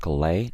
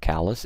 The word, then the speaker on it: Calais: And by the way, guys, this is pronounced Calais, not Calais. It's a city in northern France.